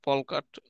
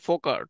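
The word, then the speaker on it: folk art: ফোকাট মানে অনেকে FOL কে, অনেকে ফল্ক বলে, ফলকাট উচ্চারণ ভুল হয়, উচ্চারণ হচ্ছে ফোকাট, সেটা হচ্ছে লোকশিল্প।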